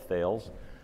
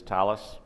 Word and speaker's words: Thales: and security at Thales, the British pronunciation of Thales. - That's right. Yeah, if you don't understand how to pronounce Thales, don't feel badly. Most people call it Thales.